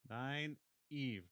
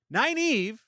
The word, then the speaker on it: Nynaeve: Nine Eve. Nine Eve and Lan are God, it's so funny.